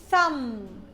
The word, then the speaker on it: thumb: Okay, number two, if I find you after TH here, th, like thumb, thumb. B is silent.